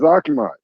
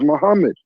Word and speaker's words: Muhammad: Muhammad's name is not properly pronounced as Akmad. Muhammad's name is properly pronounced as Muhammad.